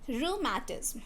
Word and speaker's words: rheumatism: Rheumatism is rheumatism. So the word rheu rhymes with kangaroo. So again roo.